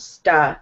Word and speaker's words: stuck: So there's something still about you, this U sound that is, like, for you, it's somewhere in between, like, an ah and ah. You're going, like, stuck. Mm-hmm. And it has to be more of an ah sound, stuck.